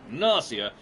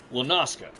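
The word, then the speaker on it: La Noscea: It's Nausea, not Lanoska.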